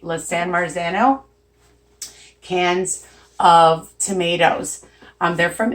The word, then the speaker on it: San Marzano: no I want to say it right la San Marzano cans of tomatoes they're from Italy and they